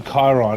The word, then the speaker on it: Chiron: good competitor okay not against the Sheeran or the Chiron as I call it so I'm pretty sure that's how it's pronounced but all around this